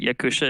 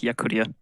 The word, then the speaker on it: Yakutia: Also, a lot of you pronounce it Yakusha. It's Yakutia.